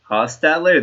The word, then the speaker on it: Hostetler: one Dave Krieg and Donovan McNabb Jeff Hostetler Hostetler that's how you pronounce it okay yeah um I'm sort of